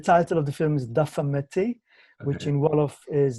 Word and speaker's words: Dafa Metti: The title of the film is Dafa Metti, which okay, in Wolof is difficult.